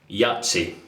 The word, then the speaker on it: Yaqi: Somebody said that this is pronounced Yahtzee, but to me it looks like Yaqi, so most people I know pronounce it Yaqi, so I'm just going to carry on and follow the trend.